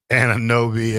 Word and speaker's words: Anunoby: Anunoby, and Mikal Bridges.